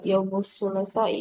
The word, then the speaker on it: يوم الثلاثاء: Ustazah, Nah, cara baca Yaumus Sulasa itu lamnya dipanjangkan juga.